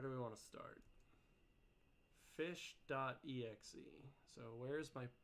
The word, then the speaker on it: ghoti: down here fish yeah fish is an artificial word used to illustrate irregularities in English spelling it is a Ries pelling of the word F is H is supposed to be pronounced fish it is made of